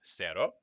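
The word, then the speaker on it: cero: ka as in casa a ce goes se as in sero a ci goes c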